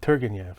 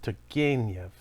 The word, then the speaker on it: Turgenev: always you know western people would look at that name and say turganyev or something it's togenyev so tergenyev was i think